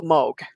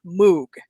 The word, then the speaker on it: Moog: to just mention the Moog. And the at the Rochester conference, I was told it is the Moog, it's not Moog. It's definitely Moog, yeah.